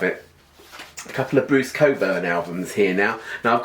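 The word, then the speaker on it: Cockburn: world of Wonders and I'm so grateful that his name is pronounced Coburn because it could be really painful this is big circumstance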